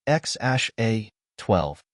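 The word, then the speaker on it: X Æ A-12: son together in 2020 named X AE a 12 pronounced X Ash a 12 the unusual name made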